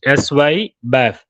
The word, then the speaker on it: SYBAF: In short, we pronounce it SY BAF.